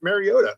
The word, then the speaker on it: Mariota: Look, even Tirico was saying it right. It's just Mariota.